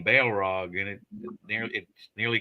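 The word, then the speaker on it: Balrog: person in white this time uh and that's that's spelled b a e l r o it's got Bail right in the name Bale Rog and it near it nearly killed the party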